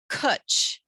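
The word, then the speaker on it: cwtch: one there's a word called Kut it rhymes with Butch and it's a Welsh word that's for a special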